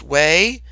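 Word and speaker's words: Hue: the ancient capital of way spelled h ue but pronounced way to the major city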